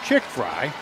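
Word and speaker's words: Tschiggfrie: Yeah, definitely unique spelling, and it's spelled Tschiggiggfrie, pronounced chick fry.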